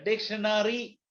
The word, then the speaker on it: dictionary: oxford advanced learner's dictionary a dictionary is pronounced nri not required in india nri dictionary dictionary primary secondary stationary ordinary ceo this a r y o r y are pronounced without a o etc dictionary says say